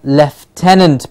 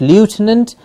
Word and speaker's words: lieutenant: the Lexus locally the left tenant please remember the pronunciation of this the left tenant is not lieutenant but left tenant yes the left inant